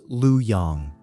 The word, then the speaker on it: Luoyang: The royal house flees east to a new capital, Luoyang, pronounced Lu Yang.